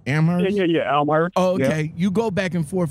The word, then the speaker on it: Amherst: I'm pronouncing that right? Amherst? Yeah, Amherst.